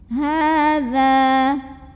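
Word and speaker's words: هذا: Ha mad asli atau mad tabi'i karena ada baris fathah tegak di atas huruf ha, maka dibaca ha-nya panjang 2 harokat. Hadza. Za juga sama mad tabi'i ya, karena ada alif yang didahului baris fathah. Maka cara bacanya dipanjangkan zalnya 2 harokat saja.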